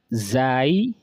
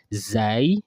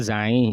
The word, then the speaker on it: ز: Zai is actually pronounced as Zai, or you can pronounce it as Za. You can say Za, or you can say Zai. So the pronunciation Zain is actually not correct. Okay, Zain. It's not like Zain.